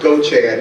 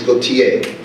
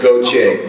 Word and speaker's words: Gauthier: are from the Chicago church and it is pronounced go Chad you see it on your there you go that's not who they are but as GA you th i er the correct french pronunciation is Gotye I'm not French i'm from south Louisiana and